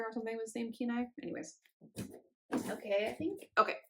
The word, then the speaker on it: Kenai: the the Kenai color I think right Kenai this is the Keen Eye colorway what's up fuzzies it's